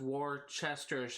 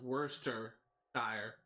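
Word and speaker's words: Worcestershire: of because you would think it uh be pronounced War Chester sh or something like that because of how it's spelled but apparently according to my instructors at Chico State University it's pronounced Worster sh so that kind of threw me off so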